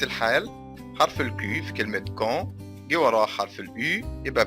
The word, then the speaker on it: quand: تاني، حرف الكي لو جه بعديه حرف اليو، حرف اليو لا ينطق. arrive quand نفس الحال، حرف الكي في كلمة quand جه وراه حرف اليو، يبقى بكده حرف اليو لا ينطق، ما ينفعش نقول quand نقول quand.